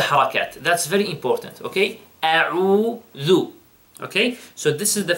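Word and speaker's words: أعوذ: Now, the first word is a'udhu. A'udhu. First, you know, notice the hamza, and then after that, ayn.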